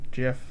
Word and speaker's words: GIF: go on record jif the guy who created it pronounces it jif i'm gonna pronounce it jeff it's fine you can both be wrong it's fine i don't